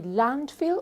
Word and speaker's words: landfill: What's the stress of this word? You have 2 syllables. Where's the stress? Here or here? Do you say landfill or do you say landfill?